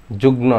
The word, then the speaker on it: যুগ্ম: আমরা অনেকে যুগ্ম সম্পাদক বলি, যুগ্ম সচিব বলি, যুগ্ম না, যুগ্ম, ঠিক আছে? এইটার নিয়মটা হলো এই যে গ, ঙ, ন, ল, ট এগুলোর সাথে যদি মফলা যুক্ত হয় তখন এই মফলার সঠিক উচ্চারণ, ম এর উচ্চারণটাই হয়, ঠিক আছে?